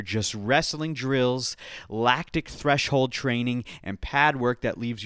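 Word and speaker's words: Treigning: He's in the US and he's training at a place called the Training Lab, but it's spelled T R E I G N I N G.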